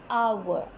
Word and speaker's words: hour: It's because H is silent and we pronounce this word as hour, and hour is giving us the sound of a.